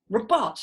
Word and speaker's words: robot: one did you do where's the strong syllable and to find the strong syllable sometimes you pretend that you're angry i am not a robot syllable number one right so that is the strong syllable there so you put it up above the weak syllable and that's you figured out syllable emphasis robot not robot that would sound mad robot no we don't do that we go robot yep goody goody gumdrops